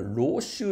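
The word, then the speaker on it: 陋習: 下から 2 目これ老集って読むんですけど悪い習慣ね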